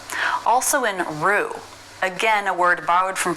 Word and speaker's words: roux: French pronunciation also in Rue again a word borrowed from French a mixture of fat and flour to thicken sauces Pho Bordeaux Roux the letter x is silent but the most common